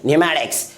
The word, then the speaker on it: pneumatics: की प्रोनाउंस नहीं की जाती है, यानी पी साइलेंट होती है। इसे क्या पढ़ेंगे हम लोग? न्यूमोनिया। अगला एग्जाम्पल PNEUMATICS, इसे क्या पढ़ेंगे? न्यूमैटिक्स।